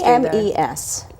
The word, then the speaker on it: Eames: we normally see now it's called the Eames room why is a hyperactive yes but it's spelled like a II am es rights the Ames family we're very big donors